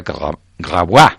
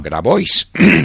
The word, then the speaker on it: Grabois: sí señor si de parece un nombre francés en francés se pronunciaría grabis grabis grabis pero grabois digámoslo en español Juan grabois es el